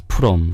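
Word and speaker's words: Fromm: who is it original style her name is from uhhuh in Korea we pronounce purum right purum right so that's pronounced uh spelled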